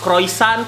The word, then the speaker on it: croissant: Kalau croissant, bacanya yang benar croissant.